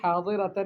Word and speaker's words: حاضرۃ: اس کو کہتی ہے احسنی التلفظ یا جاریہ، اے لڑکی تلفظ کو صحیح کرو، لا تقولی حاضرۃ، حاضرۃ نہ کہو، بل قولی کنت حاضرۃ بالضاد، بلکہ حاضرۃ کہو کہ میں حاضرہ تھی، ضاد سے کہو۔ اللہ، اردت ان اجدد